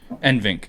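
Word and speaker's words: NVENC: thing for me is that nvidia offers the nsync or however you want to pronounce it for when you're streaming to where it automatically balances out your graphics card your cpu and your gpu load nvinc that's what it is nvinc um and that's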